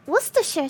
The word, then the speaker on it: Worcestershire: I actually pronounced it right. Worcestershire sauce.